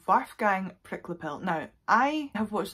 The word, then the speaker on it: Wolfgang: loads of videos and every british an american person pronounces it wolfgang but i do believe the german pronunciation of this name is waffgang so that is how i'm going to say i'm so